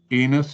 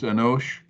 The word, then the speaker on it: Enos: Enos is Enosh.